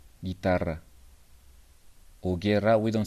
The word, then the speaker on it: guitarra: guitarra. We Yes, have G, yes. U, A. Guapa. We pronounce the U. Guitarra. We don't pronounce the U. Guitarra.